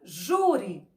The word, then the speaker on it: júri: sílaba tônica um exemplo a palavra jury 1 jury 1 jury o ju saiu com mais força ele é a penúltima silo que nós contamos de trás para frente não é isso então vamos escrever aqui o júri será a penúltima sílaba é forte e termina com i essa palavra é acentuada com acento agudo júri a outra sep